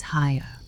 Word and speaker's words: Haigha: His name is Haya." He pronounced it so as to rhyme with mayor.